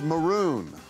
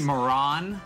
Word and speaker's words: Patrick Maroon: It's actually Maroon. You're saying it wrong. It's Maroon. It's Maloon. Patrick Maroon.